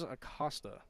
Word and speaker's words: Acosta: Thank you to my partner Brian for correcting the mispronunciation. It is Acosta.